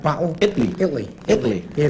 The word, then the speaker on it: Italy: Italy. Italy. Yeah, the T is silent, like in bottle.